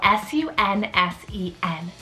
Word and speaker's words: Sunsen: life this is the name sun sin so s-u-n-s-e-n sunsen so it's derived basically from the name